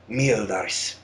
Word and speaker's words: Meeldareezff: It's pronounced Meeldareezff.